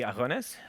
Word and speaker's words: Agones: Although apparently, if I say it right, it should be Agones. We should have a rolling R. I've been told by people who say Greek.